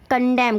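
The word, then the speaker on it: condemn: Next है कंडेम। कंडेम में देखिए, कंडेम में क्या है, एंड साइलेंट होता है, निंदा करना।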